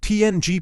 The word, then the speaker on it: PNG: PNG, pronounced PNG, is a patent-free compressed graphics format that restores all image details when the file is viewed.